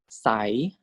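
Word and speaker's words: ใส: So default tone for high class is tone 4. This is sai, sai.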